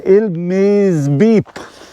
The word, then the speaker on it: Miżieb: or winter time uh it's ill-maze beep that's the way you pronounce it you can go keep